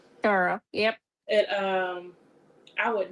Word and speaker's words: Cairo: Even though it's spelled like Cairo, like Cairo, Egypt, it's spelled like that, but it's pronounced Carol. Carl.